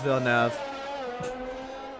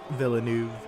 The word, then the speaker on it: Villeneuve: a hour-long tangent on how to pronounce vilnev see that's how us americans say it but that was not satisfactory for the new zealander villeneuve villeneuve so charles is